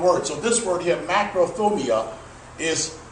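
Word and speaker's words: μακροθυμία: So this word here, macrothumia, is pronounced macros.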